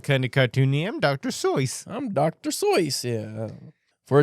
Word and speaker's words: Seuss: Big Dick Seuss. It's pronounced Seuss, by the way. I mean, everyone says Seuss, but apparently he pronounced the Seuss like a fucking, like an imbecile.